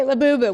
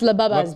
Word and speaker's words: Labubu: Labubu, which I at first I pronounce labubb because labubba or lab, but it's a labubu.